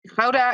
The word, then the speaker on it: Gouda: how does a brand it's not houda is a place in holland and a lot of